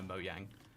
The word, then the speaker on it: Mojang: just tangentially know Minecraft wouldn't know moang uh yeah but if they did they would know Mojang right like that's the more known pronunciation yeah definitely but also